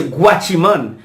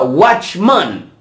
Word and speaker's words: watchman: No se dice guachimán. Eso no se existe en español. No existe. Se llama watchman.